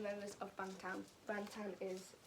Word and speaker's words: Bangtan: Bangtan is how you say the name.